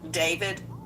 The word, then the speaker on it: D4VD: Some people look at his name and it looks it looks like D4 V and he pronounces it David.